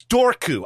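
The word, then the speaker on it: Dobhar-chú: roderick o'flaherty who lived in the 17th century dorku i like that one i'm sticking with that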